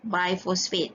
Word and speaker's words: bisphosphate: Ejaan BIS tapi I pronounce biphosphate.